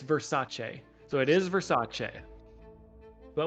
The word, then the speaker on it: Versace: They did look it up, and it is pronounced... we got to find it here. It's Versace.